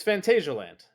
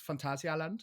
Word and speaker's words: Phantasialand: It's Fantasialand. Yeah, if you say it in German, it's Phantasialand. Okay, so it is technically both.